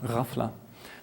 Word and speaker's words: ghafla: famously referred to as ghafla. The GH sound is pronounced roughly like this, the French R. It's a kind of guttural R, ghafla.